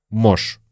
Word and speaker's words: может: Может быть. Может быть, мы тоже, говоря быстро, произносим как «может быть». Может быть. Может быть. И вообще слово «может» мы тоже часто произносим просто как «можь».